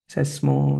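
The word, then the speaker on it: psammo: इसको थोड़ा सा कनेक्ट सेस्मो सेस्मो पी साइलेंट है कभी यहां प की तो पस्मो होना चाहिए था जरो जरो जरो हमेशा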